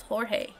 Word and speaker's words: Jorge: okay so it's it's they're both pronounced as like as like h as okay it's jorge i will remember next